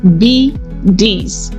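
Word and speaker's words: bidis: The first one is bes pronounced B DS.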